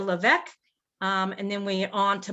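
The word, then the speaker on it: LeVeque: where we stay in the hotel levesque did i say that correct correctly yes yes the hotel leveck and then we on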